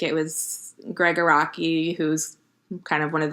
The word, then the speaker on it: Araki: Will you pronounce his last name correctly for me? Araki.